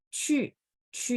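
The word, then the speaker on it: 去: Oke, cu nada 4 dan mulutnya harus setengah bulat bacanya biar lafalannya tepat.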